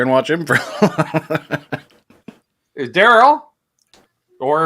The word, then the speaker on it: Daryl: watch him for is Daryl or if you're from the south darl where Daryl's one syllable somehow Trev my name is two syllables but Daryl is one darl all right all right